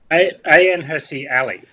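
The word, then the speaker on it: Hirsi Ali: Stephen how how do we say a name hery Ali yeah awesome pronunciation there well done yep she's a a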